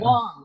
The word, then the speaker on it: Wang: As a Michigander, I went with the hard A. It's Wang. Is that it's right? Wang.